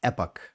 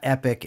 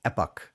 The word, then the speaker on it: Epoch: It's pronounced epoch, not epic and not epoch. It's epoch like epoch.